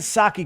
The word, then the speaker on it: Psaki: then I was told it's a silent P so I'll just I'll pronounce it properly because I'm not making fun of a name for the sake of it Jen Sak